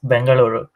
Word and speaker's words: Bengaluru: I guess I'm supposed to pronounce it as Bengaluru.